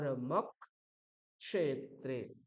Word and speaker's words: ধর্মক্ষেত্রে: যাচ্ছে সংক তা দেখুন এখানে যেমন ধর্মক্ষেত্রে এখানে কি আছে মকারের পরে অকার তারপর আছে ক্ষে তৈরি হয় ক এবং মূর্ধন্যস দিয়ে তাই অকার রস হলেও পরবর্তী যে ক্ষকার আছে ক এবং স এর মধ্যে যে প্রথম বর্ণটা ককার তার দুবার উচ্চারণ করতে হবে তাহলে কি হবে